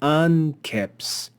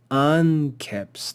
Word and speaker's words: anceps: Here we see anceps, anceps. The first syllable of a two-syllable word will always be accented.